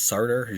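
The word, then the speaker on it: Sartre: to say it though I think it's serter Jean Paul serter is what it's named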